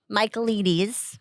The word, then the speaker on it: Michaelides: But anyway, Michaelides is how they pronounce it in the audiobook.